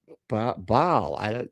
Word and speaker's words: Baal: Like, what is like he pronounces it? Baal.